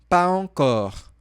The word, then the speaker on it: pas encore: Só que você percebe que na transcrição fonética eu não coloquei o Z, porque nós podemos também falar sem fazer a ligação. Ou seja, pas encore.